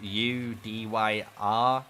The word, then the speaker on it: Udyr: they play that game, he's spelled U-D-Y-R, and that would be pronounced Udyr.